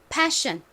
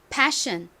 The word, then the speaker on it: passion: 세션 이렇게 발음을 하고 방금 배운 단어는 p이니까 passion put passion 이렇게 발음을 합니다 하지만 한글로 쓸 때에는 둘 다